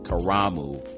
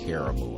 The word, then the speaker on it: Karamu: playwright in residence at cleveland's famed they it's karamu but everybody pronounces it caramel i guess it's maybe the clevelandization of that